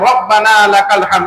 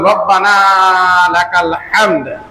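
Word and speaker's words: ربنا لك الحمد: এই হা যদি উচ্চারণ না হয় তাহলে রব্বানা লাকাল হামদ আমাদের ঠিক হবে না।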